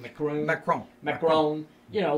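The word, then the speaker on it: Macron: it personally that they did this and when macaron is that how you pronounce his name Macroom that chrome macaron you know when he called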